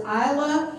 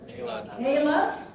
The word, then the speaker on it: Ayla: All right, and then next we have, is it Isla? Ayla. Ayla. Hi, Ayla.